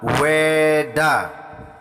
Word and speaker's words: Weda: untuk anak-anak ketahui ya jika di India tidak ada pelafalan huruf w jadi kata Weda sering mungkin anak-anak baca di buku itu ditulis Vena ya jika ditulis Vedda di India di Indonesia dibaca dengan weda weda berarti pengetahuan suci